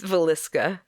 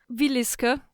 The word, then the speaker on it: Villisca: you pronounce it right no it's Villisca mooska Harvey yeah Villisca yep Villisca Villisca yeah you're good fine